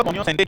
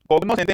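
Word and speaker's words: cognoscente: good food कोनोर या कोन सते क्या होता है स ध्यान से सुना बहुत सुंद र् सार एग्जाम में आ क्वेश्चन है कोनोर या कोनो सते कोगनो सते नहीं है जी साइलेंट होता है कोनो सते कनियो सते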